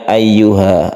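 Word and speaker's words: أَيُّهَا: munfasil Jaiz artinya boleh cara membacanya boleh satu boleh dua Alif munfasil artinya terpisah maksudnya terpisah itu adalah ada dua huruf terpisah bukan satu kalimat jadi membacanya boleh ya ayyuh atau agak panjang ya ayyuhan nabi seperti itu nah kemudian tasdid ya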